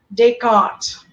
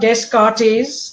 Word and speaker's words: Descartes: whose name is René Descartes. The French have a funny way of not pronouncing every letter that they write. So it's not Descartes, it is Descartes.